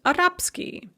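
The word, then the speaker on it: арабский: for example the adjective arab ski arabic is pronounced arapskiy or franzuski french is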